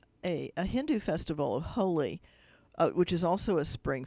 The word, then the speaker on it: Holi: to me and it's hol I it's but it's pronounced Holi and that's their Spring